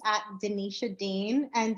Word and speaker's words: Dinetia: my name it's at Denisha Dean and Denisha is spelled like Scotia so it's d-i-n-e-t-i-a-d oh